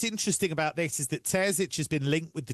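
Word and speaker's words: Terzić: Uh they are now expected to appoint uh Edin How do you pronounce it? His name is Terzic. Edin Terzic. Terzic instead.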